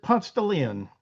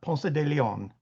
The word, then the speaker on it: Ponce de Leon: the country, where we, instead of pronouncing this road the way you might in Spain or Mexico, we pronounce it Ponce de Leon, not Ponce de Leon.